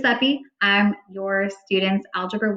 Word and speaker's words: Sepe: Pronunciation guide is here for folks who weren't sure how to pronounce my name. It's Ms. Sepe.